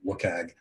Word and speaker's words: WCAG: web content accessibility guidelines the wcag or you'll hear people pronouncing lookag which is a global